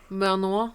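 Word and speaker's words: Benoit: know my place in this podcast it's to pronounce alien words ah when detective manoa blanc exactly joins the case everyone begins to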